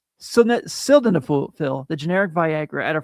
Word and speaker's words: sildenafil: They also offer options like sildenafil, the generic Viagra, at a fraction of the cost, plus other treatments so you can find what works best for you.